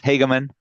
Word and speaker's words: Hageman: My guest today is Hageman. That is the correct pronunciation, right? Yes, Hageman. Yeah, Hageman.